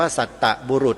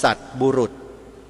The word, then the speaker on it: สัตบุรุษ: เต่า ตัว เดียว นะ คำ ๆ นี้ ไม่ ได้ อ่าน ว่า สัตตบุรุษ นะ โยม ใคร อ่าน สัตตบุรุษ ผิด คำ ที่ ถูก ต้อง คือ สัตบุรุษ สัตบุรุษ จะ เป็น คน